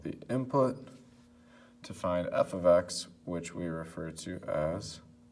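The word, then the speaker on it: f(x): So again, this is pronounced f of x.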